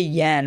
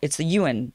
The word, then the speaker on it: yuan: I never say this right, and then you guys get on my case about the, it's not the yen, right? It's the yuan. It's kind of pronounced this way.